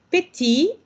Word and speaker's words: petit: Par exemple, petit, ojo también con la pronunciación. Acuérdense que en el masculino, no decimos la última letra, y al ponerle el femenino, solo recorremos el sonido.